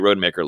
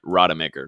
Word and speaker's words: Rodemaker: So let's see how Milton looks like on Saturday, and let's see how Tate Rodemaker looks.